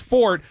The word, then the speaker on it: forte: Yeah, it's fort. That's how it's actually pronounced.